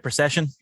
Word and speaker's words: Procyshen: ben i'm doing good did i pronounce that right procession yes you did okay good job well